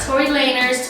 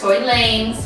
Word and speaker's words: Tory Lanez: Not Tory Lanez, Tory Lanez. Yes, continue. What happened with Tory Lanez? Oh fuck, my nose is leaking. Oh god. Not a good look. Anyways, so Tory Lanez.